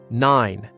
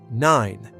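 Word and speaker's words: nein: Word number seven, nine. This means no. No. Nine. Nine. Rhymes with fine or wine.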